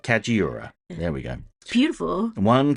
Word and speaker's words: Kajiura: kajiura kajiura yeah I never say it right kajiura there we go beautiful one can hear the